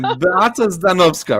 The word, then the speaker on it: Beata Zdanowska: Beata Zdanowska, right?